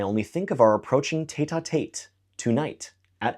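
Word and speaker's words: tête-à-tête: I only think of our approaching tetatate tonight at 8. Now, normally we would pronounce this tetat, but we change it to make it rhyme with eight.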